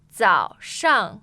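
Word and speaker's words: 早上: So the tones on 早 are, I find it a They're- little confusing. Yeah. So third tone for 早 yes. third tone 上 that's the fourth tone. Okay, so it's 3-4, right? Yeah.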